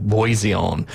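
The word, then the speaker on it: Bisson: It's French, so it's probably like Boiseon uh was seemingly out of earshot at the back of the court at the time of the occurrence.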